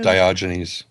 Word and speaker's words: Diogenes: moving on to the questions let's see it's pronounced diogenes oh diogenes orti yeah lares is a character